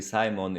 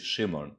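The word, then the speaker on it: Szymon: simon i i guess it's pronounced i'm i'm pronouncing it in english in english it'll be simon in polish shimon shimon okay shimon welcome how are you today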